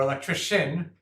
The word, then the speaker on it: electrician: pronounced an S, or electrician, where the C is pronounced as a sh.